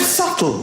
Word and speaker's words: subtle: The word subtle, would anybody object if it was spelt S-U-T-L-E? Not a single person would. But there's a B in the middle going, shh, just ignore me. Just ignore me forever. I'm silent.